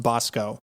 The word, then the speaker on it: Basco: learned that it's dante bosco it's it's spelled basco but it's pronounced bosco so i'm glad to